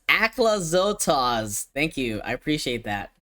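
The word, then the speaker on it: Aclazotz: It's pronounced Aclazotas.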